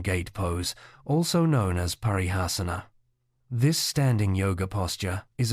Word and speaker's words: Parighasana: Parighasana, pronounced Parighasana, literally translates to iron bar used for locking a gate.